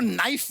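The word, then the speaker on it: knife: सलमान जी आपको नाइफ word मालूम है नाइफ उसमें शुरुआत में जो के होता है वो क्या है साइलेंट आप भी रहिए सर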